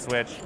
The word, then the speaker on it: SWCH: So SWCH, I pronounce it switch.